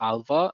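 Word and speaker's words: ALPHV: Um but basically they were focusing on Alpha which is spelled Alpha V but it's pronounced Alpha and Lockbit.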